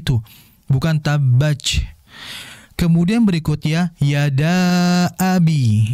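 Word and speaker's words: يدا أبي: Nah, di sini merupakan mad jaiz karena memang bukan dalam kondisi satu kalimat. Yada abi, ya. Yada abi merupakan dua kalimat yang berbeda. Yada dengan abi berbeda kalimat, sehingga itu harus dibaca jaiz, ya.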